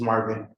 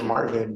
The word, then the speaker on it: Marlvin: Is it Marvin or is it, It's Marvin. how do I spell it? Marlvin. Marlvin. No, it's Marvin, but the L is silent.